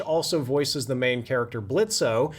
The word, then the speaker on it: Blitzo: voices the main character Blitzo. The O is silent, But